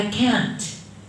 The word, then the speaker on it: can't: So you pronounce the T. I can't drive a car.